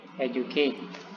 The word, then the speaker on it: educate: Nah, cara bacanya ingat, setelah stressing yang pertama primary stressing itu harus lebih tinggi daripada stressing yang ataupun secondary stressing. Contoh educate. Saya ulangi. Educate. Nah, dia agak turun ya, bukan educate.